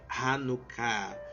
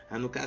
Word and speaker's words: Hanukkah: iniciou a festa de hanuká hanucá se escreve da seguinte forma h a n u k k a h hanan Ok é uma